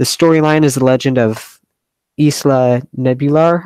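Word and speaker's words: Isla Nublar: The storyline is the legend of Isla Nebular, I believe it's Neblar, it's pronounced, something like that.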